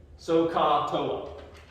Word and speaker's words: SOHCAHTOA: You just have to make sure that you pronounce it correctly and understand how it's spelled. So SOHCAHTOA is S-O-H, right? C-A-H, and then T-O-A. SOHCAHTOA.